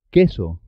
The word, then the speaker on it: queso: Siempre se escribe junto a una UE o IE. Y la U no suena en este caso. Que, qui, queso, por qué, 15.